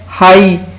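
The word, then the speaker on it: high: फिर है हाई, आप देखें ये हाई above in द स्काई, हाई, इसमें भी जी एच साइलेंट है।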